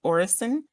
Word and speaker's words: Orison: on the like announcements they pronounce it orrison um being that it's